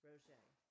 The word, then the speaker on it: Roget: Peter Mark Roget, pronounced Roget, 1779 born, beginning, baby, infant, tadpole, child, youth,